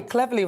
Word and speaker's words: Cleverly: and by the way cleverly rhymes with beverly see you later dan